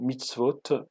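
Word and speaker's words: מצוות: Eh bien, il se prononce dans l'original mitzvah, au singulier, ou mitzvot au pluriel.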